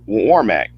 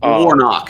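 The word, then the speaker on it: Warnock: her walker and and Senator Warmack I hope hope I pronounce his name right warno yes yes warno warno I'm sorry yeah um how how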